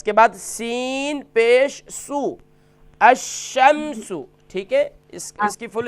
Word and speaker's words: الشمس: حمزہ شین زبر اش, شین میم زبر شم, الشم, سین پیش سو, الشمس. تو فل اسٹاپ کے ساتھ پڑھیں گے الشمس.